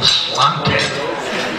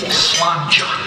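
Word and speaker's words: sláinte: a i n t people keep going slant but it's really slanga and it means your health and slanga means to all our health so to you slanga thank you so much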